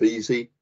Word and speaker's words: Vesey: of the pronunciations uh my family goes with easy as in easy cheesy and various other rhyming words um but yeah uh